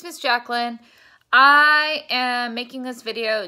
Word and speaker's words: Jaclyn: And that's Jacqueline, J-A-C-L-Y-N, and then. Maybe I'll spell it on this video so you guys can see it.